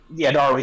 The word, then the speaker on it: Darui: theirs, and then C and how do you pronounce his name? Yeah, Darui. The people who, Darui.